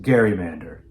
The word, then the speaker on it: gerrymander: It's pronounced gerrymander.